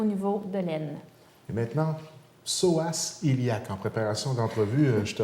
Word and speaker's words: psoas iliaque: Et maintenant, psoas iliaque. En préparation d'entrevue, je te regardais, est-ce que je l'ai bien prononcé?